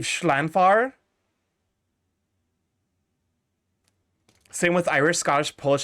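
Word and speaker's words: Llanfair: This is pronounced, I believe, Schlanfar.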